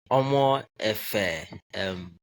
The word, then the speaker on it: Omoefe: Um Omoefe, I think is the name. Did I pronounce this correct? Mhm. Yeah, it's okay. Omoefe, it's Okay. correct. Okay. Omoefe.